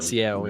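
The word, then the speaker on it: Sciel: How do you pronounce the other girl? Ciel? How do you say it? Ciel, yeah.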